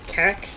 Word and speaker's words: Carrick: Uh, I used to pronounce Carrick like how you would pronounce carrot. So, Carrick I mean, I can see it.